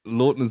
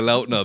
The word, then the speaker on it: Lautner: and he was like, Lautner's not how you say my name, and he was like, but it's my fault, because like when Twilight first got big, people kept saying Lautner. So what is it, like Lautner? It's Lautner.